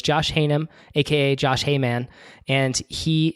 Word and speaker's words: Haynam: h-a-y-n-a-m and he says a lot of people say hey man so I almost just introduced you as hey man so it's Josh hanum AKA Josh Heyman and